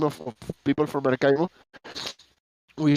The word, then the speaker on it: Maracaibo: Sorry, I gotta switch from English to Spanish to pronounce it correctly. Maracaibo.